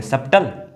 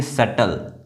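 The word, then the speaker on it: subtle: सब्टल? नो, इसको पढ़ेंगे सटल। सटल पढ़ेंगे क्योंकि यहाँ पर जो बी है वो साइलेंट है।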